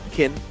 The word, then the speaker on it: Qin: Chin. Pronounce it that way. What? Sometimes they pronounce it that way. Kin. Q I N. It's Q I N. You can like Chinese pronunciation or I think so.